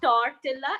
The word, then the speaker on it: tortilla: It's spelled as Tortilla. It's not tortilla, it's tortilla.